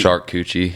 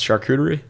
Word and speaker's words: charcuterie: uh it's like charcuterie kind of like dude shark coochie yeah shark shark coochie yeah yeah board you didn't know that's how it's pronounced charcuterie i know it's charcuterie but chicks always make